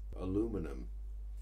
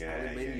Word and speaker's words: aluminium: And some of the pronunciations, aluminum. Aluminum. It's aluminium. Yeah. You're saying aluminum just to make it sound different.